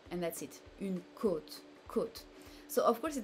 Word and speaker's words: côte: Une côte, côte, it can be the ribs or it can be the coast on the shore. So this is this very closed O here for a first option.